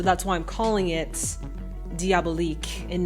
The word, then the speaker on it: Diabolique: try it again I said diaab leak wrong in my previous video I think that was the cabinet of Dr Caligari I said diabolique so I know I'm probably going to get crap for that but this is me saying I'm sorry I've learned how to say it and after that comments